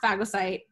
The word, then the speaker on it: phagocyte: So fagocytes. And people say it differently, but it's pronounced, because I did it on Google just to make sure. It's pronounced phagocyte, whatever, what have you.